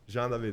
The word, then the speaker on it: Jean David: so Jean David everyone Jean David that's how it's pronounced in French so yeah little hyphen